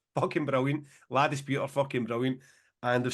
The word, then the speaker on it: La Dispute: So that a warm response to that, and I don't know how you pronounce this, James. Is it LA dispute?